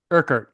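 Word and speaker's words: Urquhart: connory Roy Kat do I have that name pronounced anywhere near right Colin kard kard all right and he's standing in front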